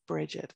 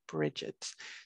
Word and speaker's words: Brigid: see and we would always pronounce that bridget so it's kind of like a j for the g sound in old irish there